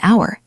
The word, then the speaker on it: hour: An hour, the h is silent, so it starts with a vowel sound.